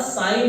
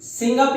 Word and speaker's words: sign: इसका उच्चारण साइन होता है, ना कि सिंग अप या सिगिन होता है, ठीक है?